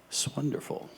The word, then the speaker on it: 'S Wonderful: and said, "Well, Mark, it's actually pronounced swonderful."